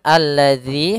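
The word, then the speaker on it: الذي: tersebut tidak dibaca kemudian alladzi hati-hati dalam pelafalan dalal di sini ada huruf Zal bukan huruf Zai ya kebanyakan kita kadang-kadang membaca huruf dalal dengan huruf Zai misalkan alladzi alladzi ah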